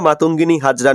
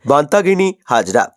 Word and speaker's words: মাতঙ্গিনী হাজরা: সম্পর্কে বর্ণনা দিতে গিয়ে ঘোষিকা মাতঙ্গিনী হাজরা নামটি ভুলভাবে উচ্চারণ করে বলেন বান্তাগিনী হাজরা এই ভুল উচ্চারণকে কেন্দ্র